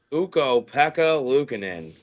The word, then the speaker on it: Ukko-Pekka Luukkonen: How do you pronounce it? Pekka Luukkonen? Ukko-Pekka Luukkonen.